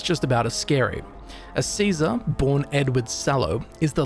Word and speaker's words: Caesar: Now, Caesar/Kaiser, different pronunciations for the same dude, is one brutal character in the Fallout lore. And the card is just about as scary. A Caesar born Edward Salow is